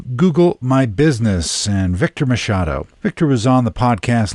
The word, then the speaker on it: Machado: And I want to pronounce your name correctly. Mashado.